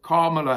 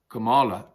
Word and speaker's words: Kamala: President of the USA, Kamala Harris. Apparently you're meant to pronounce it not Kamala, but Kamala.